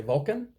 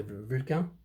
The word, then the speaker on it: Vulcain: In English, you'd say Vulcan. The French say Vulcain.